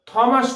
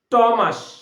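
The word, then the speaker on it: Thomas: এই দেখো থমাস নয়, টমাস, কি বললাম? টমাস, এইচটা কি হয়েছে?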